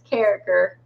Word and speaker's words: Carriker: I say cranker. That's the proper way to spell it, and it's Carriker.